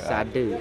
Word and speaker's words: Sade: Sade. Saya kebiasaan Pak. Ya. Kalau Sade bahasa Jawa itu jual. Okay. Kalau Sade di sini artinya obat atau obat, kesadaran. Ya. Sade ya, Pak. Sade bacanya. Sade, ya. Jadi Desa Adat Sade adalah tempat tinggal suku Sasak.